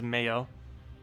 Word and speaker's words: Mayo: too I pretty much to say as Mayo as in the condiment um what do we